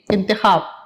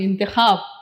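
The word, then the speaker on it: انتخاب: अलिफ प्लस नून प्लस ते प्लस खे प्लस अलिफ और प्लस बे, इंतखाब। अलिफ नून ते, अभी हिज्जे बताती हूँ। अलिफ नून जेर इन, ते जबर ता, खे अलिफ जबर ख, बे साकिन, इंतखाब।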